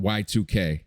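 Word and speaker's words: YIIK: to look up this game called y2k but it's spelled y-i-i-k because you know the roman numeral too oh okay why am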